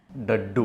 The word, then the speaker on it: डड्डू: ये दद्दू ठाकुरे की कैसे प्रोनाउंस करना है? डड्डू. डड्डू. डड्डू माने डड्डू.